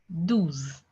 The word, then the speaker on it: douze: 12 is pronounced as douze. Douze.